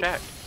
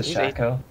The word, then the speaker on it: Shaco: He is he's straight he's a Shaq. He's definitely a Shaq. He is a Shaq. He doesn't even deserve the correct pronunciation. He's a Shaco.